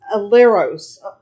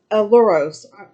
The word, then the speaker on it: Ailuros: And the Greeks, I might be butchering it, is Aleros. Aluros. Like I said, I'm not good with those kind of foreign words. But it's spelled Ailuros, and basically means cat, from my research.